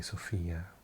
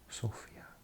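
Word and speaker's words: Sofia: capital of Sophia we in English often say Sophia but I had a friend from Bulgaria from this city and he said it's pronounced Sophia in Bulgarian but you might also have he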